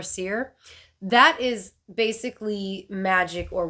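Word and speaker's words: seiðr: So I'm pretty sure that Ser, S-E-I, that D thing and R, I'm pretty sure it's pronounced Ser or Seer.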